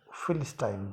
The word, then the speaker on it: philistine: से कोई ताल्लुकात नहीं रखता, तो उसको हम फिलिस्टाइन बोलते हैं। स्पेलिंग है PHILISTINE, फिलिस्टाइन।